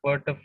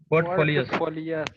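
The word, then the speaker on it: portfolio: रली investors mimic आई पोटो पोटो प नहीं है पो नहीं लिखा हुआ है spelling पोर्टफोलियो पोर्टफोलियो पोर्टफोलियो ू बग बक्स एनई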